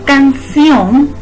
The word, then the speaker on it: canción: canción si nos fijamos la palabra canción lleva mayor énfasis en ción por ello a esa